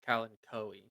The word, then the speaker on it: Kalanchoe: Just please, like, So be apparently it's pronounced Kalanchoe.